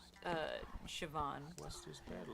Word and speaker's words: Siobhan: Also, the assistant's girl's name was apparently pronounced Siobhan. Siobhan. Just remember, it's kind of like chiffon, but it's Siobhan.